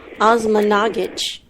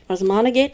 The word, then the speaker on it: Osmanagich: Osmanagich. Osmanagich?